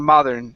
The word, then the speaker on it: modern: of your teeth okay that that d needs to feel like an R did get nice and hard mod modern instead of modern modern mother uh-huh nice and hard against the top of the mouth modern did I don't